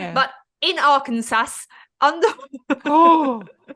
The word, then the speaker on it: Arkansas: And God forbid you pronounce that wrong because it's not spelled Arkansas. It's spelled Arkansas. Arkansas. Arkansas. A Kansas. Arkansas. It's Arkansas.